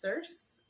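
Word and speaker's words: Circe: read Madeline Miller's other book I believe it's pronounced cerse c-i-r-c-e is supposed to be another Incredible Book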